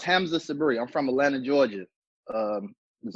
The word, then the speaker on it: Hamza Sabree: so forth and so on alright my name pronounced Hamza Sabri I'm from Atlanta Georgia was only six to